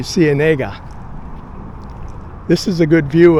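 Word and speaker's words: Ciénega: I think the anglicized pronunciation for Cenega is Sienna, like that uh street in Los Angeles called La Sienega. But according to my Spanish book, it should be Cenega.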